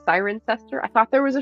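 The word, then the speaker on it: Cirencester: learned this week that it's actually pronounced siren sester I thought there was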